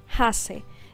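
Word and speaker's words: Annhaxe: Se llama Hase. Se escribe A-N-N piso H-A-X-E.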